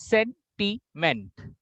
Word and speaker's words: sentiment: There are 3 syllables. Sentiment. And the more emphasis will go to sen, sen, sen.